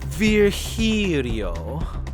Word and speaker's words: Virgilio: It's pronounced Virgilio. Virgilio. No, I'm pretty sure it's Virgilio.